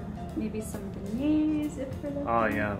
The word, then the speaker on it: beignets: Maybe some beignets if we're looking.